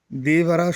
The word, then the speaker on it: Devara: তো দেবারা শব্দটা কিন্তু একসঙ্গে উচ্চারণ করবে, ঠিক আছে? দে আর বাড়ার মধ্যে কিন্তু কোনো রকম গ্যাপ রাখবে না, তাহলে পরে কিন্তু প্রবলেম হবে, ওকে?